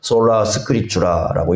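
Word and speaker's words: Sola Scriptura: 솔라 스크립추라라고 읽습니다.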